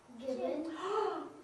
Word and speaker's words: gibbon: It rhymes with the word ribbon. Gibbon.